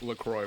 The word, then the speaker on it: LaCroix: you know the like LaCroix water, right? Yeah. I used to annoy him because I'd be like, "No, it's French. You're supposed to pronounce it La Croix."